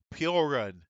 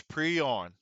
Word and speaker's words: Piorun: at time I I I pronounce that wrong I said porun so it's preon all right let's let's